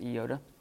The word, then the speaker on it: iota: The next one is an iota or iota. It's better to pronounce it iota.